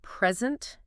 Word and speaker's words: present: why pronunciation matters is the word present. Oh, yes. If you stress the first syllable, it means a gift, but stress the second syllable. It means giving a speech.